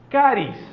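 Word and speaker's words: χάρις: griego no es neumático sabe cuál palabra es caris o se escribe charis lo que nos sea h o Che caris o carismas esas son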